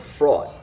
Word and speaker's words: fraught: as well maybe maybe i love the word fraud but they don't pronounce the g-h so it's fraud so uh all right